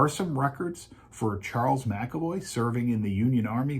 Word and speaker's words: McAvoy: of the family that spells my last name mcavoy m-c-a-v-o-y spells it m-c-e-v-o-y phonetically they sound exactly the same so and i know